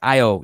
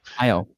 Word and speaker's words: Io: Io. Io. Now, there's the alternate pronunciation of Io, though, right? Io, yeah. Which nobody says that nobody because says you're a weirdo if you say Io.